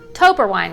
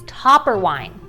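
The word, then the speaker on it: Toepperwein: Now check out this word toper wine, right? Nope, it's topper wine.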